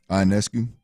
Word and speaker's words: Ionescu: Ionescu.